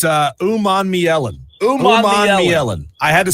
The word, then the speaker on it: Umanmielen: Umanmielen. I had to spell it out phonetically, David, so that I wouldn't mess it up today.